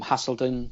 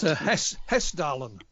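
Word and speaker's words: Hessdalen: of like earth flights or the the um hasselton lights as i pronounced it it's hess darling hairstyle and thank you hairstyle and uh lights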